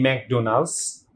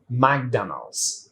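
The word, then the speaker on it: McDonald's: অনেকে আমরা এটাকে বলে থাকি ম্যাকডোনাল্ডস, but unfortunately it ইজ প্রনাউন্সড like ম্যাকডোনাল্ডস।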